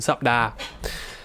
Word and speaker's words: สัปดาห์: Most people I've heard just say 2 syllables. สัปดาห์ but I don't think it's incorrect. It's probably actually more correct technically, phonetically, if you were to say สัปดาห์ I might be wrong there, but anyway, just go with the 2 syllable version.